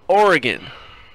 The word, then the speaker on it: Oregon: own name yes because it's not or again it is Oregon hexagon heptagon octagon Oregon its Oregon and yet they're Oregonians not Ori Guineans somebody